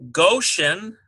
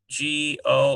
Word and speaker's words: Goshen: Here's, now this is actually pronounced God because it's a Kametz Hatuf. G-A-W-D. Here's a Goshen, G-O-S-H-E-N.